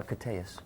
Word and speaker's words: Koteas: AC it's Angel Caruso last name is pronounced uh cus cus Ellas pretty name Ellas